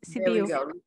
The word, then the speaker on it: Sibiu: It's Sibiu.